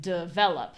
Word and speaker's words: develop: For example, I say review and develop. So in my case, I pronounce those both as schwa.